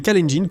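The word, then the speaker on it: Kalenjin: Cela peut-être dû au fait que les Callengin courtent à l'école tous les jours en haute altitude.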